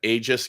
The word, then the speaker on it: Aegis: Well, before we move on to the next guy, we might as well do a little ad for Noah, our friend at Aegis Games.